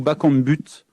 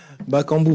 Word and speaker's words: Bakambu: suis journaliste aux radios ont dit bakambu ou bac en but bakambu bakambu cédric bakambu et bacon but ça